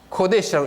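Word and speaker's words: קֹדֶשׁ: 요 코데시 요거예요. 코데시라고 읽습니다. 코데시.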